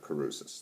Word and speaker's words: Crusius: patrick cruz sir god i forgot how to pronounce his name already patrick caruses that's right um they want to further a